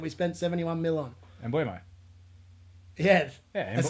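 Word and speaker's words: Mbeumo: Mbumo. Yeah. That's not how you say his name. Mbumo.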